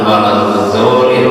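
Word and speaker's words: وَلَا الضَّالِّينَ: Ghairul maghdubi 'alaihim waladdallin. Itu salah. Diingatkan kemudian oleh jamaah, bukan waladdallin tapi waladdallin pakai dot.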